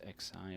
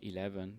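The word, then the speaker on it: Nagios XI: nagios core which called nagios x i or or 11 depends on how you want to to to pronounce it and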